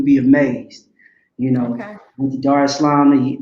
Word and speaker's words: Dar es Salaam: Went to Dar es Salaam the year prior, which is Tanzania. That's how they pronounce it there.